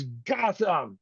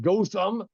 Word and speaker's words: Gotham: It's Gotham. It's Gotham City, not Gotham.